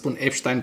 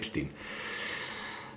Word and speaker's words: Epstein: I like to say Epstein because it is a name and a word of German origin. Although in the United States of America everyone pronounces it Epstin.